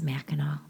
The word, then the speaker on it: Mackinac: Now, it's spelled Mackinac, but we all pronounce it as Mackinac.